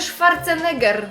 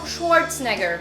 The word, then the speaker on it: Schwarzenegger: Nie Mówią Jon Krazinski a ten Arnold Schwarzenegger (niemiecka wymowa) My mówimy "Szwarceneger" a po angielsku powiedzą "Szłorcneger" Kolejna rzecz, która jest kłopotliwa przy takim trzymaniu